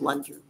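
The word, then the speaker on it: Loontjer: p a t l o o n t j r pronounced lunger uh it eventually increases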